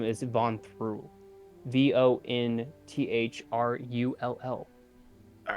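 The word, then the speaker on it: Vonthru: the city um and the mountain's name is van through v-o-n-t-h-r-u all right uh hold on a second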